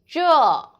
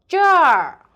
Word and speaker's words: 这儿: So when you see this one, you need to read zhèr first. And then when you finish it, roll your tongue. So zhèr.